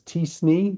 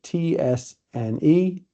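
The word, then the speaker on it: t-SNE: one is better but one I pronounce as tne but it's ts ne and the other one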